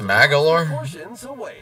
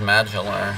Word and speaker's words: Magalor: ride mini game his name is pronounced magalore I thought it was Magellan or something he's returned to Dreamland